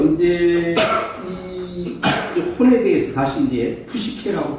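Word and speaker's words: ψυχή: 어찌됐든 그래서 이제 혼에 대해서 다시 이제 푸시케라고 발음하는데 이 혼이라는 게 원래는 뜻이 하나의 생명 개념이었어요.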